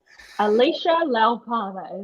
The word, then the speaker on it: Alysha Laupama: that's listening he's like wait how do I pronounce the name felish Alicia laupada is my name yeah so let's not make